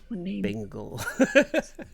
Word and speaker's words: Bengal: Colorist is by Bengal, like Cher or McLovin. Bengal.